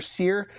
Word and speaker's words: Seare: Seare.